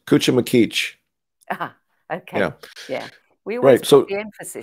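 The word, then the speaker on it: Cuchumaquic: Um, the unlikely piece at Cuchum Magwick. Close. Cuchum Makich.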